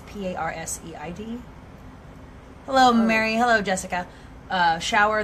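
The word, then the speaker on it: Perseid: I don't even know how to pronounce it. Parseid. It's Parseid.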